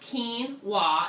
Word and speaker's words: quinoa: Quinoa is actually pronounced quinoa, even though it's spelled with a Q.